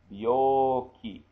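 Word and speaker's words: 病気: And it's pronounced B, that's he with a two ticks, becomes B, he becomes B. Bio, bio, and it's elongated vowel. Bioki, bioki.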